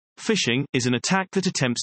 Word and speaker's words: phishing: a definition from Microsoft phishing pronounced fishing is an attack that